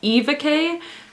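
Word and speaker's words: Éva: So the main character, her name is, it's pronounced Eva, but it's spelled with a accent aigu at the beginning. I don't know how to say that in English, and so I'm used to pronouncing that like A, so I keep singing, I keep thinking AVK, but it's Eva K.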